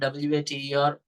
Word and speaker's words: water: So let's take the word WATER, water. Okay, if you ask a foreigner, a native speaker of English language, to pronounce the word water, okay, that person pronounces like WATER, water. The mouth goes round shape.